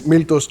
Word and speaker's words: Miltos: you Jeff hi everyone so it is miltos it's a Greek name it was one of